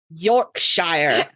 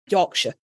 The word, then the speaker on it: Yorkshire: You don't pronounce it Shire. It's not Middle Earth. It's sh. Yorkshire. Right. And also, you don't need to elongate that O. It Yorkshire.